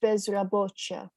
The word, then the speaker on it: bezrobocia: Vrosht, tovrosht, tovro, Wzrost bezrobocia. So it's a ch. I see. Wzrost bezrobocia. Yeah, it's like a ch sound, according to Google Translate.